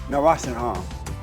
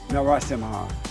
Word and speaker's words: Narasimhan: Anandhi Narasimhan. Narasimhan. Did I say it right? Yeah. I'm yeah. black. Narasimhan.